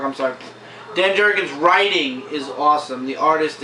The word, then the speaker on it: Jurgens: it's really good Dan jurgen's artwork is just amazing stuff I can't agree with that definitely danger I love Dan Jurgens uh oh it's not Ginger does not work I'm sorry Dan Jurgens writing is awesome the